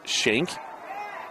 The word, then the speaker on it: Shank: Maybe his name is Skank, but we get told to us it's Shank.